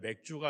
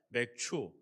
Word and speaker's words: 맥추: 맥주 감사절, 이 발음을 잘해야 됩니다. 맥주가 아니라 맥추.